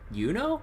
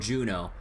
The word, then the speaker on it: Juno: N A, but then there's a a location that's spelled J U N O, so then Yuno. No, it's called Juno.